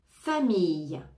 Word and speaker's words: famille: expérience expérience expérience expérience famille famille famille famille les deux ailes vont se prononcer comme un y famille famille fruit fruit